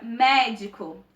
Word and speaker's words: médico: a antepenúltima por exemplo a palavra médico a sílaba mais forte é um mé ou seja a antepenúltima sílaba a sílaba tônica é